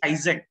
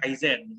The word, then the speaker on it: Kaizen: Jadi kalau teman-teman baca ada beberapa kata-kata dari bahasa Jepang gitu ya, kalau ada N di belakang atau N di tengah gitu ya, kita bacanya sengau. Jadi bacanya bukan Kaizen tapi Kaizen.